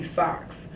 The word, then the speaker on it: Saux: part of a social club they call me socks socks yeah that's how it's pronounced yeah but it's the German way that